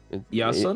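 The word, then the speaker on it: Ἰάσων: Isn't that the Greek pronunciation for Jason? Iason?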